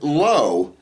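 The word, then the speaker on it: לא: And not no as in no, but no as in no. Okay? It's the word lo.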